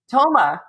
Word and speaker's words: Thoma: to be here today with my friend thomas is that how you say your last name thomas ah the agent is silent so trickiest i'm so glad i asked